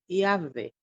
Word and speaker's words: Yahvé: pronunciar o nome sagrado, que é YHWH, que se lê Yahvé.